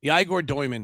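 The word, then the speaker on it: Egor Dëmin: Eagle uh Eager Yman or now he's changed the eagle. It's not. It's uh Yman is now he's pronouncing the last name. Um the uh Yigore it's Yaigore Dyman. Yigore Dyman now I think is the right way.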